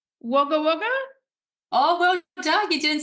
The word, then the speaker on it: Wagga Wagga: and you're from oh am I going to pronounce this right wager wager oh well done you didn't say wager wagger I can say wager wagger but I still feel weird saying waga waga I'm like can I pronounce that correctly you